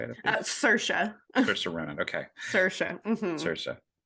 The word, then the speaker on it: Saoirse: Is it uh Sarissa Ron? Is that how you say it? Cersa.